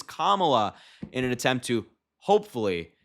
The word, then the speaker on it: Kamala: purposefully mispronounced her name they all went kamla kamla her name is Kamala in an attempt to